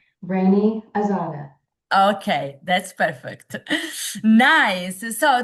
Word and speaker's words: Raney Azada: How we pronounce correctly your name? Raney Azada.